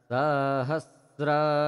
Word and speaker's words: सहस्र: आप देखेंगे सह इसके बाद जो स है वहां पर किसी किसी को लगता है कि त्र है परंतु यह त्र नहीं है यह स ही है इसमें र लगा हुआ है इसलिए इसका उच्चारण सहस्र स रेखा सरी ओम